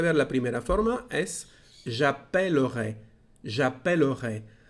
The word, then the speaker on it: j'appellerai: Ha visto que la primera E cambia de sonido, no es appeler, es appellerai. ¿De dónde viene este cambio? De las dos L's. Ahora son dos L's y eso cambia la pronunciación.